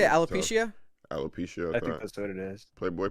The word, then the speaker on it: alopecia: can be embarrassing how do you say alopecia alopecia that's what it is playboy p was what's